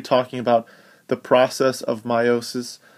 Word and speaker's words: meiosis: we'll be talking about rhymes with mitosis but is very different it's known as meiosis notice it's spelling all